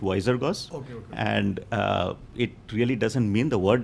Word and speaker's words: Wizergos: Goos right so actually we pronounce it wiser go okay and uh it